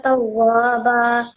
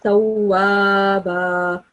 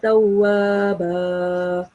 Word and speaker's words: تَوَّابًا: كان توابا. While we were reciting before, you prolonged the alif sound over here, and you're not supposed to do that. You pronounce it like tawwaba.